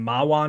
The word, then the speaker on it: Mahwah: Ford had plants in Edison and Mahwah, New Jersey. Yes, that's how you pronounce that name.